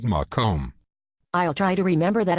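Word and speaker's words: Macomb: special message for your friends at Henry Ford make hospitals yes I do and I like the way you say make him actually it is pronounced mome I'll try to remember that Al it's Larry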